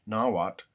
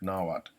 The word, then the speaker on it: Nahuatl: There's slight disagreement on whether you pronounce the L at the end of a term. In the school I went to, we did not pronounce the L when TL occurs at the end.